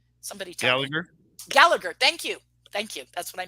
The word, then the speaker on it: Gallagher: Oh gosh, am I getting his name wrong? Is it not Gallego? Somebody tell me. Gallagher.